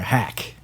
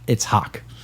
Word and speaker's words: Haack: Everyone wants to say that you're a hack, but it's Hawk. Like 2 vowels. Like a rock. 2 of the same vowel.